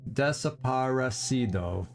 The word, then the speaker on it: desaparecido: Excuse me, I'm rolling my R's again. Desaparecido. So I left out a syllable when I said it the first time, I do think.